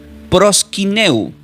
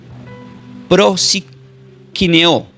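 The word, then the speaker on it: προσκυνέω: Y esta palabra griega, adorar se pronuncia como prosquineu. Lo voy a deletrear. P r o s k dequilo y latina n e o pros quineo.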